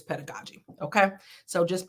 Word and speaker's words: pedagogy: yeah and it's I should pronounce it right pedagogi it's p no is it pedagogi pedagogi pedagogi it's pedagogy okay so just pronouncing that right I always get in trouble